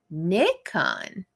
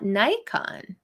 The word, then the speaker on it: Nikon: hey Jason um oh did I get corrected Nikon not Nikon hmm I've never called it Nikon all right who's backing